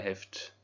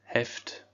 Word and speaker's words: Heft: Das Lineal, die Lineale, der Kugelschreiber, die Kugelschreiber, der Kuli, die Kulis, Das Heft. On pense à bien prononcer ce H.